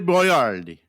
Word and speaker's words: Boiardi: him by his name his name was Ator boardi uh at to is this Chef Boyard Chef